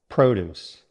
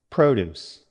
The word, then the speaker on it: produce: Produce. Now you say it. Good. Try this sentence. We buy fresh produce at the farmer's market. Your turn. Now the verb. Stress on the second syllable.